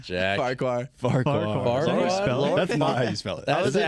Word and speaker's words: Farquhar: Farquhar. Farquhar. Is that how you spell it?